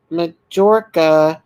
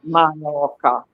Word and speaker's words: Mallorca: She said, a man told his friend he was going on a holiday to Spain, to Majorca. Mallorca. J is Y in Spanish. So Mallorca. Mallorca.